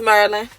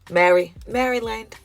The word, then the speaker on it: Maryland: If you're not from Maryland or DC, please stop trying to tell me how to say Maryland, because it is Maryland. What is it? Maryland.